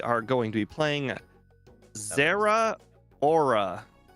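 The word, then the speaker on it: Zeraora: going to be playing Zera Aura. Right. I don't think that's right, but you know, it is what it is. It is. It's pronounced like 2 words. Their aura, yeah.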